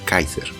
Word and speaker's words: Quasar: And yes, I know it's pronounced Kaiser. I just like the sound of Quasar, okay?